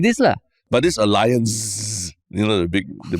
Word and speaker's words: Allianz: is the news that a German insurance company allance uh which I thought was French but uh Alliance has that's how you got to pronounce it